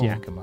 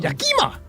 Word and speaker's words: Yakima: That's not how you pronounce it. It's Yakima, not Yakima.